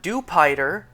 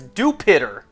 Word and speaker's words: Dewpider: Just like how it's not Dewpider, the Pokemon based on a spider, it's Dewpider. I'm sorry, if you pronounce Dewpider as Jupiter, then you are stupider than I thought.